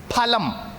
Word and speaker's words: phalam: Now there's a small difference in pronunciation. In Samskritam, it is phalam.